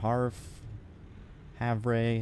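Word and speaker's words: Havre: have no idea I'm pretty sure when I when I looked it up it said Haver but that seems I don't know that seems weird for it to be pronounced like that you know but whatever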